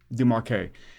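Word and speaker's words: Desmarquet: It was written by Michel, how do you pronounce the last name? Demarque.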